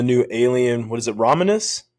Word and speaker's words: Romulus: alien what is it raminus am I pronouncing it right alien raminus ramulus ramulus right R yeah yeah for I